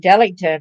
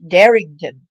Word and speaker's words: Darington: Matthew it's got dington but it's not dington it's it's darington so in obituary they